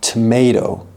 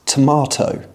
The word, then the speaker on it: tomato: So, if you want to speak with modern received pronunciation, like me, you need to pronounce all of your Ts clearly. It's a tuh sound. So, in the US, you're likely to hear tomato. But, in the UK, it's tomato.